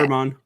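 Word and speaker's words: Germán: I always say Jermon, and then I say Jermaine, and then I say Herman. It's okay. Herman. Herman.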